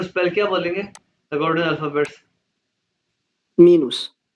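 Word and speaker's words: minus: प्लुस सिवाय ग्लाइस जी माइनस का स्पेलिंग वही है मीनुस फिर मिनस ग्लास मल्टीपल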